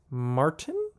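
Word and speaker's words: Martyn: is called undercover and i believe it's martin it's spelled m-a-r-t-y-n and that is an irish spelling of the name martin i gave this a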